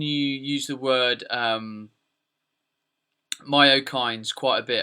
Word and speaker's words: myokines: use the word um myo kindes quite a bit have I I've pronounced that properly in your eyes right yes that's correct yeah so myo kinds